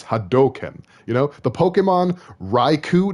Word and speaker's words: Hadoken: If you ever heard anyone say Hadouken, they're saying it wrong. It's Hadoken.